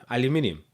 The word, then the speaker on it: aluminium: Aluminium. Yeah, you add a whole nother syllable to that word.